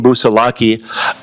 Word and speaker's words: Busalacchi: speaker today is Moren bus salaki when I asked her to pronounce her name she said it's like keep your booze under lock and key Baki so there you